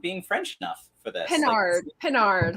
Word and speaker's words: Pinard: Pinard, like Captain Picard from the Enterprise, and that'll come in useful later.